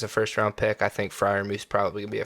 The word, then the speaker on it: Freiermuth: let's get into some Freiermuth. Freiermuth.